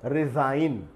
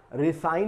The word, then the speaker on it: resign: एक और वर्ड हमारे सामने आ रहा है, जी जहाँ पर साइलेंट होगा वो है रिज़ाइन, RESIGN, रिज़ाइन। इसमें और एक उच्चारण है, कई बार जो ये वर्ड है एस, इसमें जा का उच्चारण किया जाता है, जैड का। रिसाइन नहीं कहते इसको, रिजाइन कहते हैं।